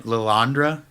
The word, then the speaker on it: Lilandra: now, how would you pronounce the name? Lilandra?